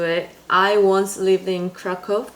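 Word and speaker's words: Kraków: I once lived in Kraco or Krakco as Americans say in Poland is the second biggest city in Poland.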